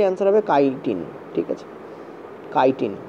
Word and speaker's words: chitin: কাইটিন বানানটা এরকম হয়, CHITIN, ওই জন্য গুগল করলে চিটিন দেয়, রেলও অনেক সময় চিটিন দিয়ে দেয়, ঠিক আছে, কিন্তু এর উচ্চারণটা অ্যাকচুয়ালি কাইটিন হয়।